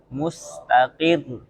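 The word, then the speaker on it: مستقر: Alhay Alhy Alhy Jadi ada penekanan alhay alhay alhay terus mustakir ya tipis rnya tapi ada penekanan mustaqir. Mustaqir.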